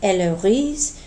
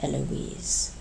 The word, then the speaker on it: Eloise: tra and the name Eloise uh Eloise which we're pronouncing uh separating the O and the I uh both in English and in French um otherwise in French